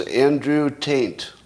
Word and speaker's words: Andrew Tate: Some of you think that I'm intentionally pronouncing his name with an N in it, but I can prove I'm not.